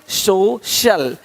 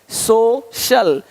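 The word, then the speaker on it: social: अब देखो यदि सी के आगे आई ए हो तो सी का उच्चारण श होता है। क्या होता है? श होता है। क्या लिखा हमने? सोशल सोशल सोशल तो यहां पे शल हो रहा है।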